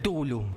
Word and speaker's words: Cthulhu: Hay tantas pronunciaciones como personas en el mundo. Nosotros convenimos decirle simplemente tul. El tulu, sí, la llamada de